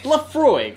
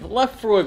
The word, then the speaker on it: Laphroaig: Yeah, and today we're trying, how do you pronounce this guy? Laphroaig. Laphroaig whiskey.